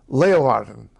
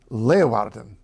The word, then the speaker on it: Leeuwarden: In the north of the country, Leeuwarden. Leeuwarden. That's not too hard at all, is it? E-E-U-W is pronounced eu.